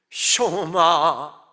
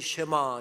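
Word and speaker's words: שמע: 했겠죠 이렇게 설교가 시작됩니다 쇼마 이시엘 이스라엘아 들어라 우리가 흔히 쉐마 쉐마 합니다만은 정확한 히브리어 발음은 쇼마 이고요 들으라고 하는 뜻입니다 조금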